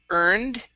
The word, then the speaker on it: earned: go okay good um we have the word earned right here instead of hair and okay take off that h and then the uh